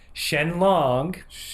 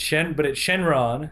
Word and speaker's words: Shenron: Shenlong is how they say it in the subtitles. But apparently it's Shenron.